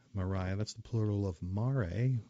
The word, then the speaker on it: maria: All those blotches on the moon's face are maria, which I've also heard it pronounced maria. I prefer myself maria.